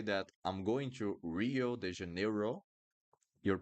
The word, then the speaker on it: Rio: But Rio, we don't call it Rio. We call it Rio, Rio. And two things here on this word, the sound of the R, and when we have two vowels, we need to pronounce each one.